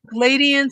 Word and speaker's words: Pleiadians: Pleiadians? Pleiadians and the Galactic Federation.